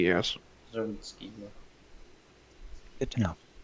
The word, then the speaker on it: Zerwinski: The sea is silent. The way I remember it is because it ends in a similar way to Prisbilski, so that's the weird way I have my ADHD brain remembers it. It's just gibberish. So the C is silent.